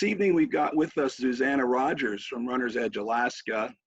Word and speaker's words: Zuzana: It can be Zuzana, it can be Susanna, it doesn't matter.